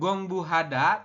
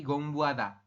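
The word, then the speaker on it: 공부하다: Bukan gongbu hada tapi gongbu ada.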